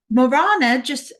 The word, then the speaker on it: Morana: Uh, you were talking about with Marana. How do you pronounce her name? Marana? Marana, she's a Slavic Yeah. deity. Marana, is that what you're on about? Oh, your friend in Spain. Oh, sorry. Morana, I'll just give you a side note quick.